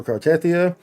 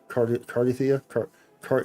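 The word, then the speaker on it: Cartethyia: And to answer your question specifically, you get her weapon for Cartia.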